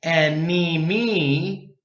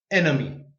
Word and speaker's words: enemy: We don't say enemy. It's too long. You schwa. Enemy.